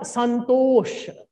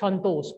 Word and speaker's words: Santosh: We speak, we write Sa, but we pronounce Sha like that. It is Sangvad, not Sangvad. We say Sangvad. We say not Santosh. We say Shantosh, all saws are the same.